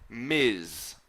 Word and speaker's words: Ms: And then finally we've MS, which we pronounce Ms. Okay, it's pronounced like M-I-Z, Ms.